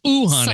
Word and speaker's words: Uhane: I pronounce it right, Uhane. You've almost got it. So what is it? Uhane. Oh, Uhane. It's two O's. I saw that. I saw the phonetics. Uhane. So it is Hawaiian.